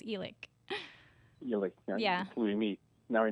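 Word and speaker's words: Elick: last name and um it's spelt like e and lick as my grandma used to say so e-link a lot of people say ellick but it's elec yeah we meet now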